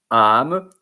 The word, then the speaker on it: âme: And in that case, particularism, the when where why they put the circumflex, the circumflex accent on top of the A, it's because to pronounce it like without it would be am, I think.